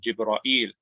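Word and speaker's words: جبرائيل: In addition to the names of the angels, and notice that there's a difference here between Jibril and Jibra'il, right? Those are two different ways of saying the same angel.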